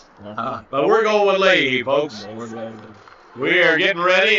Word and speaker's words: Leahy: He would tell you the actual pronunciation is Lahi. But we're going with Leahy, folks.